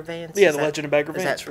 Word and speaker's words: Bagger Vance: Yeah, The Legend of Bagger Vance. Is that pronounced right?